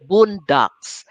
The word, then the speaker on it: bundok: filipino word the word boondocks uh take note of how i pronounced it it's actually our filipino boon doc b-u-n-d-o-k boondock but in the dictionary